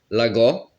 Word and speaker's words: Lagor: Lagor, Lagor, sans le R à la fin.